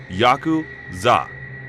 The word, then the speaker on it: Yakuza: The rules of the game are fairly complex, but the worst possible 3 cards to draw are 8, 9, and 3, pronounced Yaku-za in Japanese.